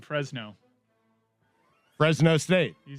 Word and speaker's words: Fresno: Fresno State over UConn. How'd you pronounce that? 45-0. No. You put an extra syllable in Fresno.